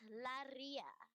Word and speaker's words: Laria: It's Laria. Roll your R's.